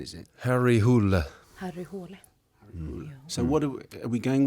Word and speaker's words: Harry Hole: Harry hull because I'd be going around saying Harry Hole but that's not the right pronunciation is it Harry houla so what are we going with that away